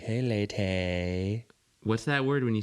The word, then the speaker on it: Leyte: I've been doing Letty. No, not Letty. Not Letty.